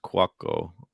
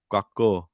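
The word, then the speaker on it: Couacaud: Yeah, just Quacko. Yeah. Why'd you say his name like that? That's how it's pronounced.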